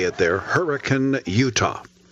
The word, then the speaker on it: Hurricane: all of us to Hurricane, that's how they say it there, Hurricane, Utah. Spelled like hurricane, sounds like hurricane, where Elaine Connell and Davin Josephs decided to get married.